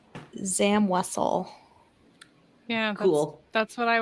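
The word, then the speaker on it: Zam Wesell: So our mutual friend Devore from Allergy to the Force said he always thought it was Zamwizel.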